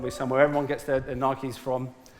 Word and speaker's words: Nike: somewhere everyone gets their nikes from i'm saying it right saying nike not nike but it's just do